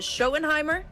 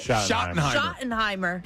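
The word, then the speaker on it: Schottenheimer: But what we do know is that the new head coach, Brian, uh, is it Shoenheimimer? Am I saying it right? Shottenheimimer.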